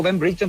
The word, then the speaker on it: Ben Britton: haciéndole una nota y me corrigió, me dijo que se pronuncia así que yo voy a empezar a pronunciarlo como lo dicen acá los ingleses.